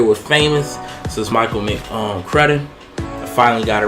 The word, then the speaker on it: McCrudden: Before they were famous, this is Michael McCrudden. I finally got it right. Used to say McCrudden, but it's Bud. You know, it ain't no E, it's double D.